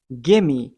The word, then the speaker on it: gimme: But आज के बाद कुछ you pronounce करें, gimme, gimme.